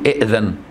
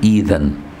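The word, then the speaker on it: ائذن: تنطقها كده لما تبتدي بيها، مش تقول إئذن، لا تقول إذن، دي البداية. لكن لو تقول إئذن إمتى؟ لو وصلت. فقال أذن له، لو وصلنا فقال أذن له، فهمت؟ ده في الوصل.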